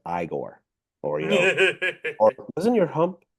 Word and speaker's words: Igor: Igor, no, it's pronounced Igor, or or wasn't your hump on the other?